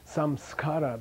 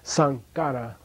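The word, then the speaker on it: saṃskāra: So instead of saying samskara, they would say sankara.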